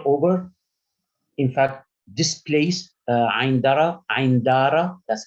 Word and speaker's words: Ain Dara: In fact, this place, Ain Dara, that's how it's pronounced, which is north of Syria.